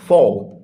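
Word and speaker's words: Pfau: Next character है जी हमारे पास doctor Ruth फाउ। इसमें पी साइलेंट है बच्चों, इसको फाउ पढ़ना है।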